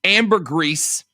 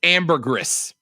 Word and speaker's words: ambergris: One says pronounced ambergris, and one saying pronounced ambergris.